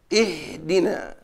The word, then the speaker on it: اهدنا: نستعين اهدنا الصراط المستقيم اما في حال ابتداء بها فانه يجب ان تثبت هذه الحركه هذه الهمزه ولكن باعتبار انه لا حركه لها فانها تؤخذ من حركه الحرف الثالث فحركت الحرف الثالث الدال فتؤخذ حركه الهمزه من حركه الدال تنطق هكذا اهدنا اهدنا الصراط المستقيم الله الله